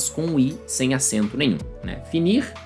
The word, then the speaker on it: fini: Finir, fini. Novamente, a pronúncia é a mesma.